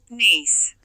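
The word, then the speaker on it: niece: तो इसकी मैं प्रोनाउंसिएशन भी आपको सुना देता हूँ, नीस, नीस। तो इसको नीस, हम उर्दू में नीस कहते हैं, NIEC नीस।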